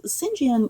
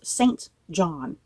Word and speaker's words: St John: a funny story about singen rivers I remember the very first time I read this book let me tell you I pronounced singen Rivers as St John Rivers so when I I